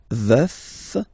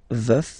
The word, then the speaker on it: veuf: Je suis veuf. Veuf, so remember to pronounce the final F.